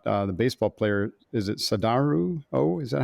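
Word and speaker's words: Sadaharu Oh: Is it Sadaharu? Oh, is that how you say his name?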